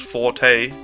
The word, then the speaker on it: forte: say that the word Forte is actually pronounced four wait Fort or four although now it's almost an English word that's pronounced Forte the both are accepted yeah it's just so